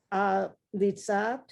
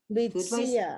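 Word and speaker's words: לִיצִיאַת: They, Leads, Zecher, leads, Litzat, you have to have that yud sound. Li, si, at. Litziat, syllables.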